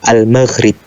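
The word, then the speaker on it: المغرب: Jadi pengucapan untuk Maroko itu Al-Maghrib.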